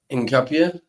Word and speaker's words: Hincapié: Hincapié, yeah.